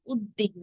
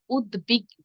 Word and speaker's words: উদ্বিগ্ন: উপসর্গ যোগে গঠিত হয়েছে অনেকেই শব্দটিকে উচ্চারণ করে থাকেন উদ্দিগ্ন তাই না উদ্বিগ্ন হবেন এর উচ্চারণ হবে উদ্বিগ্ন কারণ উদ উপসর্গ যোগে গঠিত হয়েছে একে এটি আবার দেখুন